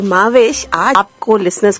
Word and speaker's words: Mahwash: तो महविश हमारी पाकिस्तानी प्रोनाउंसिएशन है, जिस तरह हर मुल्क की अलग प्रोनाउंसिएशन होती है नामों की, तो माविश इज the correct pronunciation.